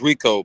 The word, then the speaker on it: Rico: How you want me to say it? Rico or Rico? What's the right pronunciation? It's Rico, but everything's well, man.